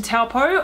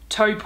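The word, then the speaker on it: Taupō: so I've made it to taupo although I should stop myself straightaway it's actually pronounced taupe or taupe is in our own toes poor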